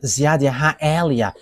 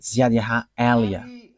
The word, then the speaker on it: YAHVAH Eliah: that is my name, so I pronounce it as my father pronounced it, YAHVAH Eliah.